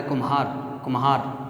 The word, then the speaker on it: कुम्हार: ये इसका जब हम उच्चारण करते हैं तो ये कुमार पढ़ा जाता है, कुम्हार, तो मैं ज़्यादा आता है, इसलिए ये लघु, गुरु, लघु, इस प्रकार से इसमें मात्राएं आती हैं।